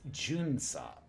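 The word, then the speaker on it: 巡査: Number 5 is Junsa.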